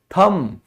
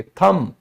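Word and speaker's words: thumb: अंगूठा दिखाता है ना कोई, उसे क्या कहते हैं? थम। ये बी नहीं बोला जाता, कभी भी नहीं बोलोगे, थम।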